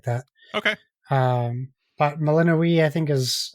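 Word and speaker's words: Melinoë: But yeah, you play as Melinoe or Melanoi. Their characters say it different. So some characters say her name one way, some characters say it the other way.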